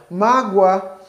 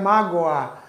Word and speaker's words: mágoa: nós pronunciamos a palavra mágoa este o que está aí ele não tem um som de o dificilmente nós vamos pronunciar mágoa né Nós pronunciamos ele com o som de u assim como acontece com